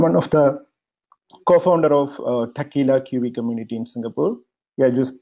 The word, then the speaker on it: Tequila: I'm one of the co-founder of Tequila QV community in Singapore. Yeah, you just heard it right. The pronunciation is same as the famous Mexican drink.